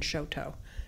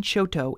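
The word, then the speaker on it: Chouteau: lot of evidence that the pronun iation that in the 18th century would have been Shoto as evidenced by the Lewis and Clark journals the change between Shoto and Cho came during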